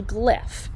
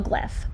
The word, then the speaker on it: glyph: creating something called a glyph you might go what's a glyph well this is how you spell glyph g-l-y-p-h and it kind of rhymes with cliff okay now a glyph